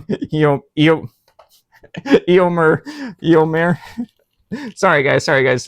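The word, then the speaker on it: Éomer: This is Eio. Oh my god. Did I say his name wrong? Eio Eommer.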